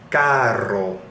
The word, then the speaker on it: carro: And practice saying the double R within a word, okay? This was also a thing that really helps me as well to practice the pronunciation, like car in Spanish. Carro, carro, okay?